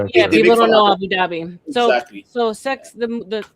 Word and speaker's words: Abu Dhabi: We say Abu Dhabi. That's the real pronunciation.